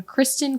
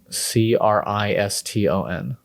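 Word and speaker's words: Criston: Kristen, as in Kristen Cole. Kriston. Good job. That one was a trick because we say it like Kristen, You'd want to say, yeah, no. but it's Kriston.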